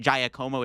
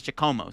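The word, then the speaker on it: Giacomo: lot of people were I kept calling it jayakumo it's it's chacomo so for all you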